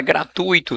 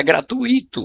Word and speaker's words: gratuito: Na alternativa C, a palavra é gratuito não é gratuito. Olha, quem pronuncia errado teria um problema aqui.